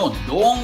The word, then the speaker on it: 白い: ここでルフィは白いと書いてドーンと読ませています。